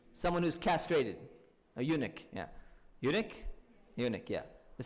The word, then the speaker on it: eunuch: Anyone know what a eunuch is? Am I pronouncing it correctly? Someone who's castrated. A eunuch, yeah.